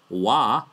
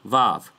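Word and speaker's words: waw: Therefore, ancient Hebrew as recorded in history and the precedence of Scripture is a wa, not a vav. So no, it's not a v.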